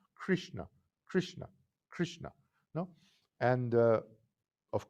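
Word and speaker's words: कृष्ण: of krishna originally is krishna krishna krishna no that's how you pronounce it three letters have the tongue up krishna krishna krishna no and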